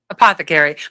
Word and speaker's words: apothecary: Apothecary. My husband remembered it by a pot to carry. A pot to carry. Apothecary.